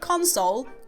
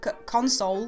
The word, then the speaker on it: console: don't say the word console console the way most people do in Yorkshire we tend to have flipped emphasis on words so please don't send